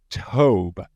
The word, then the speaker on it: Tobe: but it is pronounced Tobe. And that is how it is pronounced officially, how it's pronounced.